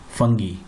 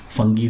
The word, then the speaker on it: fungi: Okay, so now let us study about kingdom fungi. You can also pronounce it as kingdom fungi, no problem. In various countries it is pronounced differently. Fungi, fungi, fungi, whatever.